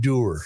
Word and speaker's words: dour: the- I believe it's pronounced Doer.